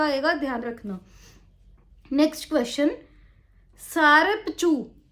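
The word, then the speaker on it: Tsarap Chu: सारपचू सारपचू यह इसके स्पेलिंग होते हैं टी एस ए आर ए पी सी एच यू टी जो है साइलेंट है जब हम बोलते हैं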